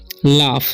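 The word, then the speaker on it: laugh: ठीक है तो स्माइल लाफ इसे पढ़ते है लाफ क्योंकि जीच का उचार यहां पर फ हो रहा है ठीक है तो लाफ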